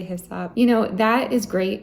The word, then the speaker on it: hyssop: what I've been told but it's hyssop hi sap I get a purple